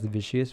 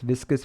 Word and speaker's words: viscous: and previous lectures too, I was pronouncing the word viscous as vicious, which is bad, but anyway, so it's viscous forces, not vicious forces, but anyways.